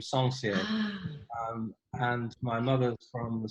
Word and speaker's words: Sencier: Sencier, Sencier. Sencier. Sounds very posh, very French.